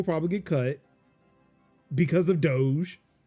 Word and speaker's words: Doge: Brian Becker called it dog. And I was like, I have been on the internet too long to where I got upset when he mispronounced Doge. Yeah, I was like, oh, Doge, man. No, he said dog.